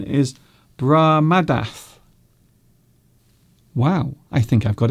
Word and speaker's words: Brahmadath: My name pronunciation is Brahmadath. Oh, okay then. Is that better? Is that better? My name's pronunciation is Brahmadath.